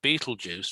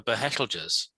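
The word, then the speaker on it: Betelgeuse: well is this it's the same with um pronouncing the names of stars correctly like everybody says beetlejuice for behelders um and it's like hang on a minute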